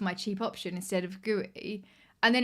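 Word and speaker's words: Guéhi: I had king for my cheap option instead of gooey and then it's given me a lot more money in my front three. Is that how we pronounce? I think it's like Gu. That makes more sense.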